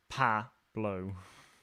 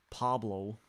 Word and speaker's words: Pablo: It's Pablo. There you go. Pablo. That is how I'd say it.